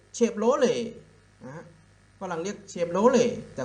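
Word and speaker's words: Chevrolet: โร เลต์ I like เชฟ โร เลต์ ฝรั่ง เต็ม รถ เลย แต่ คน ไทย เล็ก เชฟโรเลต นะ ฮะ อ่ะ เพราะ ตา ที ก็ จะ เก็บ มัน ต่อ เต่า การันต์ เขา ไม่ ออก เสียง ฮะ นี้ เป็น เชฟโรเลต นะ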